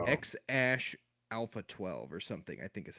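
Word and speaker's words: X Æ A-12: so bad but uh I think the AE symbol is pronounced Ash so I think it's X Ash Alpha 12 or something I think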